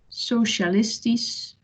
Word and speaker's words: socialistisch: Acht, acht, schat, schat, socialistisch, so it becomes an S sound.